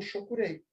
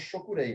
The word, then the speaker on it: Chokurei: iniciada com o símbolo Chokurei. Aqui no Brasil, nós falamos Chokurei, né? Portugal é Chokurei, mas é a questão da pronúncia.